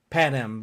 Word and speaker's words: Panem: The Penang Games?